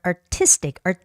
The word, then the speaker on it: artistic: And the two last words are artistic, I has the stress, the first I, and journey, journey.